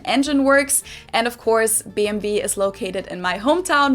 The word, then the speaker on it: BMW: And in German, in English, people say BMW. In German, we say BMW because W is pronounced W in German, and it stands for Bayerische.